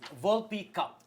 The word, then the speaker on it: Volpe Cup: John, ano ba ang pronunciation niyan? Volpe Cup.